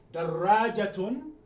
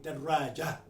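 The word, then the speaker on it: درجة: Now, by the way, in Arabic, sometimes you hear people say daraja, without pronouncing the ta marbuta. It is in the pronunciation, when you stop, an Arab will stop on a sukun, daraja. But when you hear a at the end, you can assume there's a ta marbuta there, which is not been pronounced.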